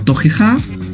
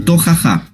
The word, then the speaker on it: tojejá: Se pronuncia, según lo que hemos podido ver y entender, de dos formas, como tojeja y tojaja.